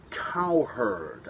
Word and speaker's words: Cowherd: name sucks and secondly cowherd kind of sounds like cow herds i see a herd of cows oh my god but